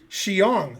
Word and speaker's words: Xiong: not going to happen will pronounce my name correctly xiong but i'm not doing